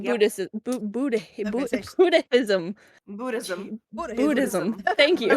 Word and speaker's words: Buddhism: Budd Buddhism Buddhism buddh Buddhism thank you I like Buddhism like how do I say this I'm Buddhism things thank you you don't really have to pronounce the h if you don't butcher